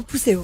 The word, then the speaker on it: Pousséo: de Fer dans Viking, Dorothée Pousséo, je le prononce bien, c'est bien Pousséo. Très bien, Pousséo.